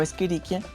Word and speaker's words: Escherichia: que ver ya o escherichia podemos ver que ese h se pronuncia con el sonido de la k de este modo no